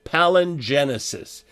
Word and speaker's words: palingenesis: uh and that myth is what he calls palingenesis palin genesis don't get hung up here but